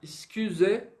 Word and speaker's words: excusez-moi: O U no francês, ele tem som de I.